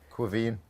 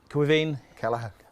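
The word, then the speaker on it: Caoimhín: great goalkeeper irish goalkeeper his name is very difficult to pronounce i know to pronounce it because my wife is from an irish background but when you've got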